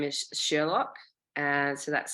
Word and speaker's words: Sherlok: The company's name is Sherlock. So that's spelled SHERLOK, Sherlock.